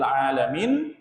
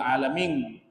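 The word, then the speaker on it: العالمين: Oh dia tahu kalau alhamdulillahi rabbil alamin dibacanya pakai huruf nun. Alhamdulillahi rabbil alamin. Nun. Ya, tapi ada saja orang yang cuek, bodo amat, tetap aja dibaca apa? Alhamdulillahi rabbil alamin. Pakai NG.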